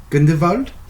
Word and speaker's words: Grindelwald: For Fantastic Beasts: The Crimes of Grindelwald. Is that how you say it? Grindelwald. Yeah, that guy. I want to do the Germanic with the VW. Would you please? Grindelwald?